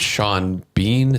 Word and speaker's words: Sean Bean: I thought like they had good chemistry together, and then like the whole Nick Cage and Sean Bean, is that how you pronounce it?